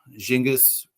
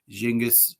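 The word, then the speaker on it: Genghis: the phone would be like uh jingis or a soft J or G jingus. Um but in like Egypt that sound is a hard G.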